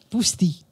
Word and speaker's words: Poustis: Bon, Poustis. Poustis. Poustis. Oui, il y a tout qui se prononce.